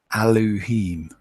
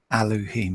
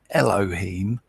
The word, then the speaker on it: Elohim: no e it's an a that's an i eloheem eloheem not Elohim like some P pronounce it because there's no e in it